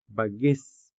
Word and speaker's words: bagis: As you can see, these words are spelled with the letter I and sounded with the native Hiligaynon vowel E.